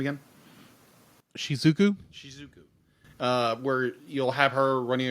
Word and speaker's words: Shizuku: And it's just done beautifully, because you have so many scenes where our main character, how do you pronounce her name again? Shizuku.